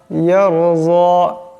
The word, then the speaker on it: يرضى: সম্পূর্ণ এটি হবে ইল্লা বতিগা ওয়াজহি রব্বিহিল আলা ওয়ালা সাউফা ইয়ারযা, ওয়ালা সাউফা ইয়ারযা, এখানে রা সেকেন্ড ডাইনাস জবর, তাই রাকে মোটা আওয়াজে পড়তে হবে।